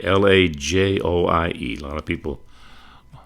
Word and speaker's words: Lajoie: The Frenchman, they called him Napoleon Lajoie, Lajoie. A lot of people mispronounce his name over the years, but here's another great one.